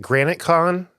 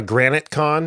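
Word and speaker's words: GraniteCon: Hampshire SE The Rock what's that Granite as in the rock or the that's the way it's spelled g r a n i t e con all one word but um Judith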